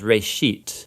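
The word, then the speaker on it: ראשית: Genesis Genesis comes from a Hebrew word uh it's pronounced Ray sheet and it just means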